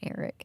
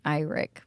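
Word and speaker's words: Aaric: It's not Eric. It's Iric. No, it's how do you say it? I just say it as Auric. Auric. Eric. It's all the same.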